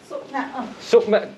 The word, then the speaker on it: Swapna: If it's Sopna, it's S-W-A-P-N. Sopna, yeah.